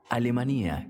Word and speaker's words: Alemanía: Alemanía con tilde en la i, como lo pronuncian los alteños, es un hermoso pueblito de montaña.